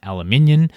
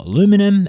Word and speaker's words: aluminium: In early 2018, he imposed tariffs on solar panels, washing imports, steel and aluminium, or aluminum, as some crazy people in North America like to pronounce, only excluding a few countries, Australia being one of them.